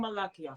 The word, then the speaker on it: Malakiyah: okay you know I've been saying your name on King malachia this is is that way for years so when I hear everyone else say Malachi I'm like wait a minute I said it said it wrong but I I love